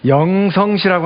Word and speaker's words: 룽청시: 예, 룽청시 하면 아마 낯설게 들리실 겁니다. 영성시라고 하면 또 좀 낯익어 보이죠?